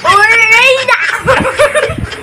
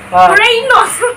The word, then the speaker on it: Uranus: Urena.